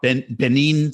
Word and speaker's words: Benin: reading about I don't know a lot about Benin city is that how to pronounce it yeah yeah but it came across